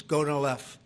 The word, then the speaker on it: Gonal-F: So it's Gonal-F. Is that a proper pronunciation?